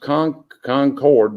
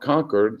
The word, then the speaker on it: Concord: in concord north carolina that is pronounced concord not conquered like they say it